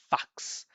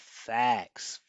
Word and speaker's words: facts: I heard fox, fox, right? Instead of fax, fax.